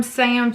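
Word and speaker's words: Saem: So this one is from Sam too. I'm not sure if I'm saying that right. It's spelled S-A-E-M.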